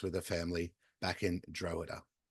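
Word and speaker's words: Drogheda: phonetic thing on it and it comes up droa du like huh duh um do do do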